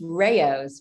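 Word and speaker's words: Rao's: with it is and i also thought it was rouse before i started working with them it's rayo's which is interesting so it's completely changed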